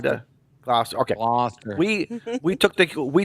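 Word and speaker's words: Gloucester: We brought the kids up to Glouster. Glouster. Sorry. What? Glouster. Glower. How do Okay. How Okay. H how does a Connecticut guy supposed to annunciate this word? Glouster.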